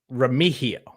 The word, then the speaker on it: Remigio: It's Remigio, Rocky, because he has been very vocal about like it is Remigio. Because he's Filipino, and that's the correct pronunciation.